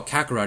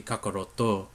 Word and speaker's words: Kakaroto: What we call Kakarot is actually Kakaroto in Japanese.